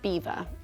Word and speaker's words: Belvoir: some may have noticed we call it Beaver but in fact it's spelt BVO and in French Belvoir means beautiful view and the castle was